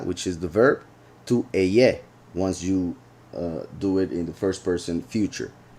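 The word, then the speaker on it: אהיה: So that's why some say haya, some say eyeh. I repeat, I believe for several reasons that it should be eyeh. That means that this pronunciation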